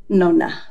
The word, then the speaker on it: nonna: How did you pronounce it? Nonna.